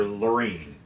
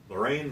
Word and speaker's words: Lorraine: with Charlize Theron's character Loreen Lorraine Lorraine Loreen that were they pronounce it both yeah it depends on who you're talking to the American and British and the French and the Russians and the Germans they all Browns it differently they all go into